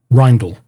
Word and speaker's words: Reindl: Grand Jury charging Christopher Reindl, and it's spelled Reindl, and the court case has it as INDL, a.k.a. REINDL, but the right name is Christopher Reindl, REINDL.